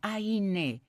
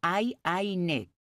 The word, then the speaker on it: Ayn: Se pronuncia Aine. Es una pronunciación larga. Aine.